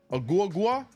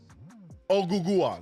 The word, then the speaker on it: Ogugua: Agua? How do you say it? Ogugua.